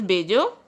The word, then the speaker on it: bello: Guys, double L is pronounced as J. In Spanish, it is pronounced as bello.